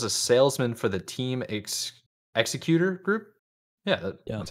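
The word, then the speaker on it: Xecuter: To recap, Bowser was a salesman for the Team Executor Group. Yeah, that's how you pronounce it. Executor Group, which creates and sells devices that let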